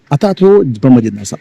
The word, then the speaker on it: Athato Brahma Jijnasa: Pronunciation is not correct. "Athato Athato Brahma Jijnasa." You have to pronounce it like that.